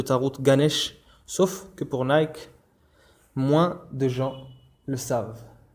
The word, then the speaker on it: Nike: Le nom de la marque Nike, qui se prononce originellement Nike, est inspiré de ce qui est appelé la déesse grecque de la victoire, Nike ou Nike.